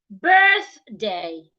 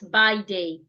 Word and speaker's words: birthday: We also have birthday. Birthday, not by day.